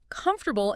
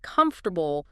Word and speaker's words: comfortable: I remember a student who always stressed the wrong syllable in comfortable instead of comfortable. Small thing, but it sounded awkward.